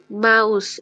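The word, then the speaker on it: Maus: মা উচ্চ রসৌ স বা স মা মা মাউস যদি আমরা আরেকটা এক্সাম্পল দেখতে চাই কি বলা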